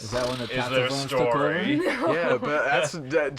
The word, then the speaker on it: Tatzelwurm: And this week, we're going to watch the Tatzelwurm deal the damage. Ooh. Or if you want to be, accurate to the pronunciation, it's Tatzelwurm. Tatzelwurm.